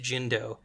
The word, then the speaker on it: Shinto: we have of the term um shinto which was at that time pronounced jindo is from uh ad720